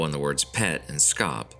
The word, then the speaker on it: scop: The game is Pet Scop a port manto on the words Pet and Scop. Scop, pronounced shop, is an old English word for a poet.